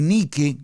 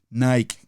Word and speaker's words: Nike: ser de victoria porque es tan importante porque ni que ni que escriba lo en sus notas ni que ni que como lo estoy pronunciando a lo largo de la historia el